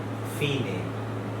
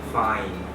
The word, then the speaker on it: fine: ইংলিশে, ইটালিয়ানে শব্দটা হচ্ছে ফিনে। আপনারা যেটা সেটের স্ক্রিনে দেখতে পাচ্ছেন FINE, দেখলে প্রথমেই আপনাদের মনে হবে ফাইন, কিন্তু এটা তো ইটালিয়ান শব্দ, সেই কারণে ফিনে।